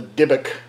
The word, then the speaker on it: Dybbuk: So, anyway, guys, that was our take on the Dybbuk Box.